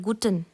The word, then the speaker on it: Guten: Good को हम कहते हैं गुटन। गुड को हम कहते हैं गुटन। जो यह ई है वह जर्मन में ए की तरह प्रोनाउंस होता है।